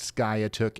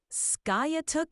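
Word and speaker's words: Skiatook: of Tulsa Oklahoma and they are telling me that it is pronounced Sky took and you are wrong so you need to bake that into your memory okay all right Ryan got it ska took it is thanks for setting me straight always good to learn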